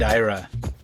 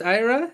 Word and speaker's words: Ira: Ira Kursban on the Immigration Review Podcast. Ira Kursban. Is is it pronounced Ira?